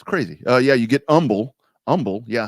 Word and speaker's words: Humble: uh yeah you get Umble Umble yeah how do you get Umble out of humble which you know whatever